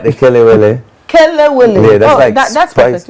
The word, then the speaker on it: kelewele: I don't want to mispronounce. I like the kelewele.